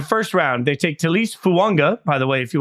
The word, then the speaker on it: Fuaga: watch the NFL Network he did tell everybody there it is fua like to a you really given me a lot of pronunce I spent a lot of time looking up pronunciations and that I should have just called you no I I like I thought it was fuaga and then I've been